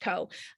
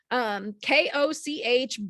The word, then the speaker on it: Koch: It is it's Koch, let's face it, but it's pronounced Koch, Koch, B as in Baily, J as in Jade at unk.edu.